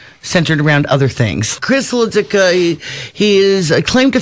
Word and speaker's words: Hludzik: Just remember, Hludzik is easy, but you have to put an H in front of it. And the H is silent for who knows why they put it there.